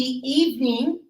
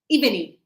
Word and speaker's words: evening: and then we have in the evening so a lot of people pronounce this eveny eveny no it's eve evening evening evening that's it two syllables so not e evening